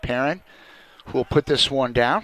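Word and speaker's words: Perron: to Ibarra number eight challenged by Paran excuse me Perrin I'm told I've been botching the pronunciations my apologies to the parent family p-e-r-r-o-n probably can be announced pronounced a few different ways but in this case Zach Perrin we'll put this one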